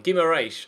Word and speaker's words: Guimarães: Turns out I was actually pronouncing it pretty spot on, Guimarães.